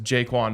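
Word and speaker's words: Ja'Quan: on the nose but like jaquin McMillan right or actually pronunciation is jquan McMillan uh for the Broncos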